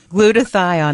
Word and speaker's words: glutathione: glutathione in your body glutathione doctor what is glutathione am I pronouncing it right oh that's exactly okay good